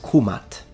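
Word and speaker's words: kmt: to be precise then the correct and most likely pronunciation in ancient Egyptian specifically in classical Egyptian is kumat kumatu nominative kumata accusative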